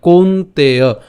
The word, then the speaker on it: কৌন্তেয়: নিত্য, নিত্য বৈরিনা, নিত্য বৈরিনা কামরূপেণ, কামরূপেণ কৌন্তেয়, কৌন্তেয় দন্তান্নটা আমরা ক ঔকারের সাথে উচ্চারণ করলাম, কৌন্তেয়।